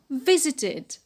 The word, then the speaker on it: visited: In the past, it becomes visited, visited. V, short E, z, short E, t, short E, and d. So how many syllables we have? We have 3 syllables.